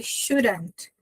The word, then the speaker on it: should: Você vai olhar para ele e tudo que você vai falar vai ser um X de Xuxa e um u de seco.